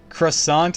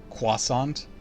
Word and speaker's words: croissant: never heard croissant in the same ways so croissant is just the way that a lot of people mispronounce it it's supposed to be pronounced like a cish sound Quant Quant so Carl was pronouncing it right even